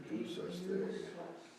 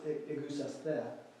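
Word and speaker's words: ἐγεύσασθε: Can anybody pronounce that Greek word? I was just working on the goose us there. Say again? The goose us there? Only it's egusaste.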